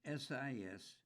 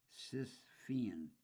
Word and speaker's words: Sisyphean: It's Sisyphen, Sisyphean task, I guess.